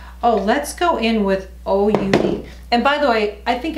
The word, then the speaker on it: Huda: Oh, let's go in with OUD. And by the way, I think I said her name wrong. I think it's pronounced Ouda, not Huda. Ouda is how you pronounce it, so I apologize.